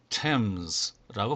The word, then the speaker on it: Thames: 자, 두 번째 낱말은 Thames라고 발음이 됩니다.